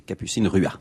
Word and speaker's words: Capucine Ruat: pas de, vous prononcez pas le T, c'est Capucine Ruat.